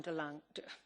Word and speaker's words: De Lange: 1 minute, Madam De Lange. I beg your pardon, De Lange. Work? Yeah, fantastic. Ik zal de uitspraak. Thank you very much, Madam President. De Lange, it's exactly how it's said.